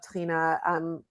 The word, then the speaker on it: tahina: And, it rhymes with Adeena, so it flows easily off of my tongue. There are several Israeli brands of tahina.